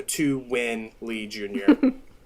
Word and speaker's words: Tuan Lee Jr: number two this is it's my name spelled phonetically so it's the number two w-i-n-l-e-e-j-r so to win lee jr there we go beautiful